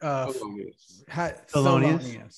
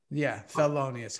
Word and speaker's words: Thelonious: How does he, Thelonious. Thelonious.